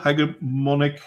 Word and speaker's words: hegemonic: Well, those rules are meant to try and secure a cultural hegemonic system. It's a soft G.